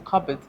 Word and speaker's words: cupboard: It's a cupboard. Because you know, cupboard is spelled cub. It's spelled cup and bed, but you don't pronounce the P.